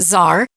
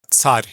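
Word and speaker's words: царь: talk about the word, in English we pronounce it czar, coming from Caesar, but I would love for Sergey to pronounce that word in Russian, and you just listen for the ts at the beginning of it.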